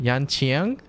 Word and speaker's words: Yanqing: E7 dude that's how you say his name Yan Chiang Le in case I lose contact if anyone